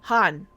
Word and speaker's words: Khan: Han. I keep forgetting the K is silent.